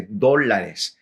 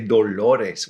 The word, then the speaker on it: dólares: dollars in Spanish is dólares, D-O-L-A-R-E-S, with an accent on the O there at the front. So you're supposed to say dólares.